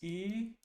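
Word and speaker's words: 良い: This reads as E which means good.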